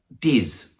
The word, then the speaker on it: Diz: Diz, which Diz, as you can see, is spelled DZ.